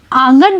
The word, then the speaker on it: आंगन: और अब आप आंगन बोलकर देखिए। जब आप आंगन बोलकर देखेंगे तो आप पाएंगे कि चंद्रबिंदु का आप उच्चारण कर रहे हैं तो ध्वनि नाक और मुंह दोनों जगह से निकल रही है।